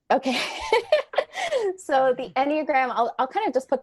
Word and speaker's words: Enneagram: So it comes from Latin, ennea and gram. So meaning 9-pointed figure. So as far as I've heard of it from experts, it's Enneagram.